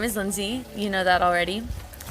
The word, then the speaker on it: Lindsie: Okay, so my name is Lindsie. You know that already. Like Lindsie Lohan, but not like Lindsie Lohan. Just if that helps with pronunciation.